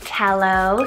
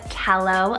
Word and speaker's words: Tello: Tello, spelled T-E-L-O, Tello, another adorable name.